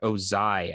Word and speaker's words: Ozai: america soda then we have the fire lord ozai i think it's pronounced from avatar the last airbender and i